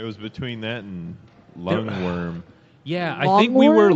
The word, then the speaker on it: wyrm: lord of them yes a worm pronounced worm or verm is a type of